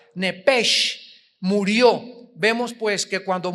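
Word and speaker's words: נפש: es nepesh, se pronuncia nepej, la CH en hebreo se pronuncia como J, nepesh, murió.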